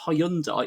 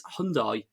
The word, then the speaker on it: Hyundai: get mine serviced and they said it's not Hyundai it's Hyundai or Hundai H Hyundai sorry very good